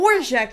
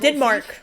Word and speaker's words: Dvorak: Dvorak, that's how you say his name. His name is not Denmark.